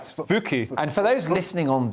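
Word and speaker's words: Fucke: Yeah, so a Swedish village, I'm going to have to pronounce this correctly, Fuke? Right. Fuke.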